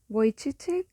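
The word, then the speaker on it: Vujicic: This this beautiful person Nick Vochi but please if you search him use audio because the spelling is like in Czechoslovakia spelling is completely different from how it is pronounced.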